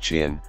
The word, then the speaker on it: Qin: His Qin kingdom, pronounced Qin, provides the name which most of the world has used ever since for this whole region of the earth, China.